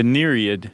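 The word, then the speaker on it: nereid: mermaid-like creature called the neriad yes I think I'm pronouncing that correctly yeah n-e-r-e-i-d that e i is a tough transition it is because you want to say like yeah or nurian these are sea nymphs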